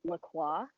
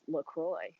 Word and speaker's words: LaCroix: be like a prisoner i was always saying lacroix but the website actually was saying like it's supposed to rhyme with enjoy so it's lacroix i don't know um